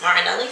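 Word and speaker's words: Martinelli's: this is literally just sparkling blush um marinelli's marinelli's is how you say it um 100 juice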